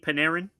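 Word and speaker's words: Panarin: Art Paneran. Paneran. I always say his name wrong.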